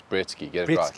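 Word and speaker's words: Breetzke: How do we pronounce his name? Britsky. I played a season with him at the leagues before this one, before the Betway, and his Betway SA20 started. I used to call him Britska, because Britska, I went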